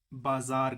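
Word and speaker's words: بازار: बाजार ही कहते हैं लेकिन थोड़ा सा चेंज करके ये प्रोनाउंस करते हैं फारसी लोग थब बजर अब ये जो तू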